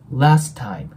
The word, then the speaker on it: last time: ますで今回ねこのラストの T 破裂音になるんで次に母音が来ない時は破裂音は消えますなのでラスタイムになるんですねなのでここがラストタイムっていう感じで T を発音しないように注意してくださいもう 1度通して